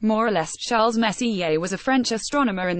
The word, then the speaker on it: Messier: including nebulae galaxies and star clusters Charles Messier pronounced more or less Charles Messier was a French astronomer in the 18th century